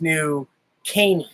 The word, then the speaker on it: New Caney: No, she said it's New Caney. Can, like a soda can. And then the postal worker today, he said it's New Caney.